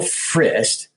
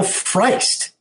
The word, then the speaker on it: Frist: day and was like why does Sam Cedar pronounce Bill Frist as Bill Feist is that his name and I realized why